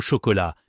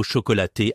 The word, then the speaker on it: chocolat: J'étais à une boulangerie à Lyon et j'ai tellement stressé que j'ai commander euh un pain au chocolat, mais j'ai dit pain au chocolaté avec le thé prononcé.